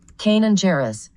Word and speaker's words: Kanan Jarrus: Kanan Jarrus.